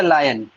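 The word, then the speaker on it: lion: नो मैन इज अ लायन। अच्छा बाबू, इसको अगर सही से प्रोनाउंस करो तो बाबू लॉयन होता है ना, लायन नहीं, ठीक है।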